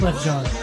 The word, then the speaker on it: Wyclef Jean: How do you pronounce this guy's name? Wyclef Jean.